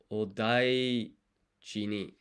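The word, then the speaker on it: お大事に: And then bless you is odaiji ni. Let's get the pronunciation for that one.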